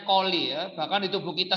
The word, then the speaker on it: coli: Jadi ini bacanya coli ya. Bahkan di tubuh kita sendiri itu sebenarnya sudah ada bakteri E. coli ya. Bacanya pakai K ya, bukan pakai C.